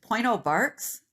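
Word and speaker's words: Pointe aux Barques: i have another one where i put the pronunciation it's point oh bart's lighthouse so point oh barks lighthouse was first built near the tip of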